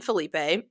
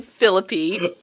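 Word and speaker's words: Phillippe: away so Barry is Ryan Felipe is that's how you say his name right no that's how you order your burrito phpp so Barry is played by Ryan philippy Barry's like a quarterback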